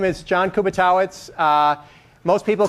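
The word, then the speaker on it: Kubiatowicz: few years ago, and everybody was pronouncing it Kubiatovic or something like that, which is probably more correct in some distant past. But I'm fourth generation, so Kubitowicz or Kubi is fine.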